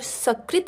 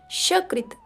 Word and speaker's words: सकृत: यदि तुम व्याकरण पढ़ लोगे तो स्वजन के स्थान पर स्वजन सकल के स्थान पर शकल और सकृत के स्थान पर शकृत का उच्चारण ना करोगे। इस श्लोक में उच्चारण भेद से ही अर्थ का अनर्थ दिखाया गया है।